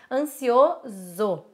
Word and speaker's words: ansioso: Ansioso. Análise, mesa, certo? E aí eu trouxe também, essas são palavras que são escritas com S e que são pronunciadas com Z.